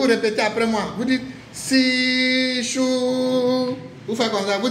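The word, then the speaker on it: SISHU: Vous dites si chou.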